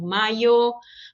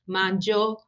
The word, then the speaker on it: mayo: Então, aqui a gente pode ter, vocês podem encontrar, já podem ter observado diferentes pronúncias, como maio, majo, majo. Então, depende da variedade linguística.